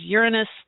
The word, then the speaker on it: Uranus: So it is Uranus commonly, but it is Uranus for astrologers and even astronomers now.